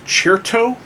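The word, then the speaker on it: Cherto: there's a guy named cheertoe how do you know how you spell that it as in like crescendo but with chert so this is like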